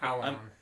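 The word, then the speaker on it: Allanon: I looked at you to see if I said it right because I've been putting the N in the wrong spot. Alan. Yeah. Alanon. Alanon. Alanon. Like Abbidon. Like Abdon. But Alanon. Yeah, that's that work.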